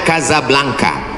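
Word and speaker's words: Casablanca: nama negaranya Maroko ibukotanya tulisannya casablangca cara bacanya Kadzab langka Kaza artinya rumah Blanca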